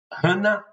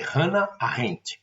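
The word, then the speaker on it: Hannah: Vou colocar aqui embaixo do do da videoaula, mas se pronuncia Hanna. Só a pronúncia em alemão, a pronúncia correta é Hanna.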